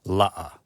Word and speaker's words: la'a: He aina, once again, aina, la'a. And la'a has the okina in the middle. La'a.